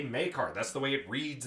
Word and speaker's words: Maekar: Then you see Makar or Mirkar, however you pronounce it. Yeah, and that might have been an embellishment by the announcer guy. I was thinking about this past week. Miakar, but it's Maekar, and I've heard every